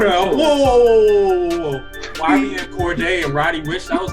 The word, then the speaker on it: Cordae: It's Cordae now. That's a fact. You don't need to use all the extra syllables and letters.